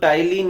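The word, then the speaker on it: ptyalin: Enzyme है, बोले तो टाइलिन या सेलेवरी एमाइलेज, वो सिर्फ पैरोटिड ग्लैंड सिक्रेट करती है। याद रखना भी आसान है, टाइलिन की स्पेलिंग भी पी से स्टार्ट होती है और पैरोटिड की भी पी से।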